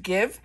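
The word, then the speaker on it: GXVE: two Brands it has the Gwen Stefani brand that is I think pronounced give and then youth to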